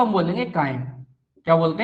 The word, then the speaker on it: chyme: भोजन को हम बोलेंगे कायम। क्या बोलते हैं, कायम बोलते हैं। स्पेलिंग इसकी होती है CHYME, सी, कायम कहा जाता है।